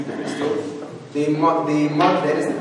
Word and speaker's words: Bastille: The historians mark the storming of the Bastille, that's how you pronounce it, the Bastille, the Bastille.